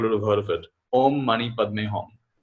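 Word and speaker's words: om mani padme hum: have heard of it om mani padme hom which the tibetan pronounces om money pay me hom which means i pay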